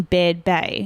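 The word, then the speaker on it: Baird Bay: can do it in bed Bay and I'm hoping I say it right it's b-a-i-r-d so I I heard other people say bad babe but hopefully I do say it correctly um it was about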